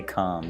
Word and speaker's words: calm: com means I hope remember it's got a silent L so you spell it Calem but you say calm which is really weird I think yeah English